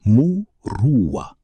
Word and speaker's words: Muruwwa: The word is murua. It is pronounced mua and it has no single English translation because it contains multitudes that English has never thought to combine.